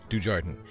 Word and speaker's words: Dujardin: It's pronounced Dujardin.